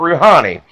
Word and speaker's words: Rouhani: This was to the Iranian president, Rouhani. That's how you pronounce his name.